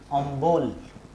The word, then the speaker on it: অম্ল: এই অম্ল শব্দটা, অম্ল মানে টক, এই অম্ল শব্দটা অনেকের উচ্চারণ করেন অম্বল। দেখো এই ম এবং ল, ম এবং লয়ের মাঝখানে একটা ব চলে এসেছে।